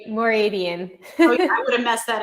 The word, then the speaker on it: Mooradian: it it's a it's a hard one to pronounce it's more radiant i would have messed that up i would